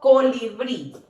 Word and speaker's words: colibrí: Pronuncio en voz alta. Colibrí. Colibrí. Si yo pronunciase, por ejemplo, colibrí. No, ¿verdad? Colibrí. ¿Dónde recae? Muy bien. En la última sílaba.